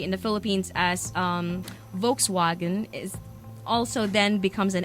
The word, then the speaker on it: Volkswagen: a v Zan basically everything that's W in German is pronounced like a V right yeah right so the vehicle um that we would normally say in the Philippines as um Volkswagen is also then becomes